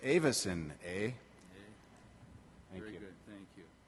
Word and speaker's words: Avis: our Co reminded me if you ever forget how to pronounce our name just remember where you're from which is Michigan and I'm a yuper and you say everything like this a so it's Avis a very good thank